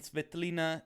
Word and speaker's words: Tsvetelina: So, tonight, I'm very honored to be here together with Pavlina Vardoulaki Pryor and Tsvetelina Georgieva. Did I pronounce it correctly?